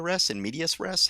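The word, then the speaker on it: in medias res: just an inmedia inmedia inm medius rest how do you pronounce that medius with an S people always leave off the S inm medius res uh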